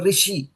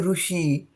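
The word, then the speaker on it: ऋषि: it which means it is the R for rishi as you learned in the Hindu language.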